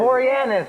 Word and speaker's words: Boreanaz: It's Boreanaz, Jesse. I know, Dave. I'm just joshing you.